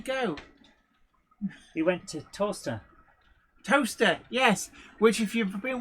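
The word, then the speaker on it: Towcester: he went to toaster toaster yes which if you've been wondering like a place in the UK called toaster yes but it's spelled toester I for years I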